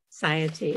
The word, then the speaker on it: satiety: Satiety.